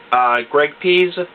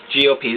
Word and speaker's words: Pease: Again, some people pronounce this or say it Pease Blackpoint, but I say it Pease.